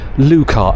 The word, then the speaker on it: Lykke: Lykke. It's pronounced Lukar.